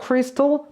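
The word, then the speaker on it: crystal: 첫 번째 단어가 나오는데요 단어 여러분들 그냥 크리스탈이라는 우리나라 말 때문에 탈로 발음을 많이 하십니다 근데 발음기호를 잘 보시면요 털이라고 해서 와이 붙어 있을 뿐이지 거기에 모음이 없어요 크리스탈이 아니라 크리스에 발음인거다 생각을 해 주시고 the cristal merchant라고 그 다음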